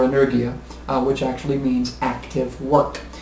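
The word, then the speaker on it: ἐνέργεια: Energy itself comes from, the word energy comes from the Greek word, I believe it's pronounced energia, or energia, which actually means active work.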